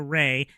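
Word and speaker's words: Rhaye: It's Ray, but the ray is spelled R H A Y E.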